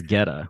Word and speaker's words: Goetta: Goetta, Geta, and it's pronounced Geta. G as in George.